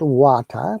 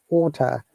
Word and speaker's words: water: see in water um tea is prominent and r is silent and not water but it's water and that is amazing